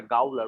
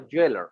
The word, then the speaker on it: gaoler: It is actually a little like they are spelling Jailor with the G. Okay. Yeah. Okay, so there is a little difference in pronunciation. Most of the people, even I used to like pronounce it like a Gaoler, but it's not like that. It is Shakespearean, so they are actually pronouncing it as a Jailor.